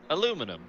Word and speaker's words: aluminium: us with a coffee each absolutely and you pronounce it aluminium yeah let's do this aluminum now what are we likely to see battles